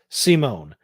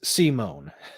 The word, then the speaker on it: Simon: Okay, so his name is pronounced Simone. It's spelled Simon, but it's Simone.